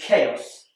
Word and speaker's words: chaos: pronounce it and finally chaos this is SP with a CH and CH is more commonly pronounced CH like in church but in chaos it's a c like in cat so you can see